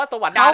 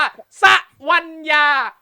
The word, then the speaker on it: สวรรยา: ครับ มุกกุ สวรรค์ อ่ะ อย่า อ่าน ว่า สวรรยา นะ ครับ ต้อง อ่าน ว่า สวัญญา ฮ กุ่ย ชื่อ ชื่อ